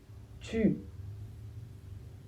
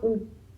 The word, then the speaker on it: tu: Le t se prononce t et le u se prononce u. Ça se prononce donc tu pas ou. Attention le u en français tout seul ne fait jamais ou. Il fait u.